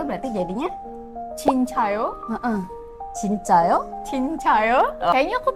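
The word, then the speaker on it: 진짜: Kak yang bener nih Itu tuh sebenarnya dia pertanyaan ya jadi nadanya harus naik jadi bilangnya cinca Cin gimana cinca cinca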